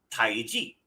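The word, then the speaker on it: Taiji: It's just Tai Ji. Tai Ji and Chi Gong.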